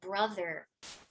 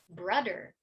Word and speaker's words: brother: So if a student is saying, instead of brother, brudder, there's not going to be any problem of comprehension.